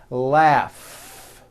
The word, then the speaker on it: laugh: a strong R Freedom laugh notice the GH combination in that word laugh telephone notice the pH